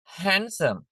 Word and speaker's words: handsome: දැන් බලන්න මේ ටික handsome අපි handsome කියලා කියන්නේ ඩ එක sound කියවෙන්නේ නැහැ.